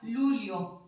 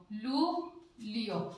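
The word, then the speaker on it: luglio: ठीक है, तो जीएल के बाद में आई आ गया, मैंने बताया था इधर जीएल के बाद में ई आ जाता है तो ले बन जाता है। वैसे ही ये यहाँ पे बन गया लू लियो, लू लियो, ले बन गया यहाँ पे।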